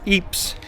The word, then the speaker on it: Ypres: We've landed in Belgium as our first port call in a town called EPS or Yipers as we would pronounce it.